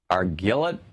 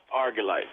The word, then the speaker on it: Argillite: Jason watching Free Speech TV in Argillette, Kentucky. Is that how you say it? Argillite. Argillite.